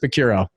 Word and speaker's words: Picciurro: So I have on the podcast today, my CPA, Chris Picciurro.